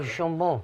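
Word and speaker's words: Jonbon: I know that you're a massive fan of, and you actually come on, give your pronunciation. Oh, Jean Bon. Jean Bon, absolutely.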